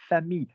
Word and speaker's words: famille: But the word girl, fille, you don't pronounce the L's, and the word family, famille, you don't pronounce the L's.